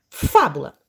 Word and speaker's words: fábula: Então, nós vamos separar o fá, bu, lá. E eu já sei que a sílaba tônica é o fá, porque o fá já está marcado, né, identificado com um acento.